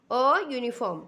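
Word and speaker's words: uniform: Next, a policeman wear अ यूनिफॉर्म। तो यहाँ पे बच्चों आप ध्यान से देखो, यू लेटर से स्टार्ट हो रहा है वर्ड, लेकिन यहाँ पे यू का उच्चार प्रोनाउंसिएशन हम वाई यू ऐसे करते हैं।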